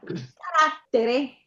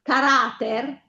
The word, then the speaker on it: caratter: Allora, carattere caratter ha l'accento sulla pur essendo una una sillaba accentata, la penultima sillaba viene accentata comunque perché la parola finisce in consonante.